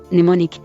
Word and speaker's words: mnemonic: Silent M occurs in initial Greek-derived mn-, mnemonic, mnemosony, but is pronounced after a prefix, amnesia.